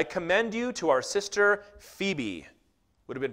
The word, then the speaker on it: Phoebe: paul writes i commend you to our sister phoebe would have been pronounced phobi but we say phoebe so we'll stick with that a servant of